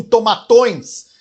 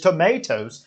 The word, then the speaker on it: tomatoes: Meti um tomatões. E caíram na risada. Em vez de tomatoes, ele falou tomatões.